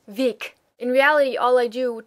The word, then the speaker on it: Weg: I genuinely do think that I hear a difference between my naturally pronounced Weg and the intentionally hardened Weg.